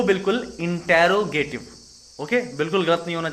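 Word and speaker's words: interrogative: साथ, जिसका नाम है इंटेरोगेटिव एडजेक्टिव। इसको गलत प्रोनाउंस किया जाता है, इंट्रोगेटिव बोलते हैं, बट इसको इंटेरो बोला जाता है।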